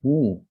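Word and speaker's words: knee: Todo lo que sabe inglés sabe que se pronuncia ni, es decir, se ha producido allí también una aféresis de una velar inicial que ya no está.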